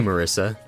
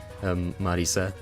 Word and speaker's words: Marisa: Japanese one, but like, I say Marissa. I don't say Marisa. I feel like that, you know, Marissa is a name in English, so. Alright, stage 1, done. Yeah, I mean, I definitely say her name wrong, but like...